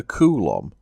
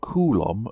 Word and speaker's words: coulomb: 1 volt means 1 joule for each coulomb of charge. Coulomb is named after a French scientist, so it's probably more likely to be pronounced coulomb.